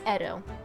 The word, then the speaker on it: Edo: into Japanese historical phonology just now Edo it's Edo all right I apologize for that mispronunciation but now I know better he was